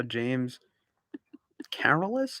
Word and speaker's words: James Carolus: Yeah, apparently I got because it's and I saw James Carolus is how you pronounce it.